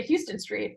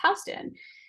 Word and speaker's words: Houston: from outside of New York you would say Houston Street but New York is black you would say no it's housed in right and so if you're using like Google